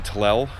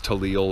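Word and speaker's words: Tlell: move on okay so I've made it to talel I think I mispronounced it before as talliel or something like that the morning is beautiful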